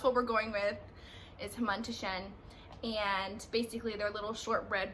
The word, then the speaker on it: hamantashen: It's hamantashen.